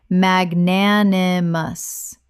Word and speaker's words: magnanimous: Correct pronunciation: magnanimous. Four syllables with the stress on the second, meaning generous or forgiving.